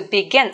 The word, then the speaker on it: begin: word is begin to begin something okay so again we have two syllables right the stress is on the second syllable begin begin okay and we get